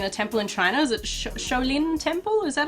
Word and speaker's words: Shaolin: three months in a temple in china's at shaolin temple is that how you say it yeah the shaolin temple in china yeah yeah learning kung fu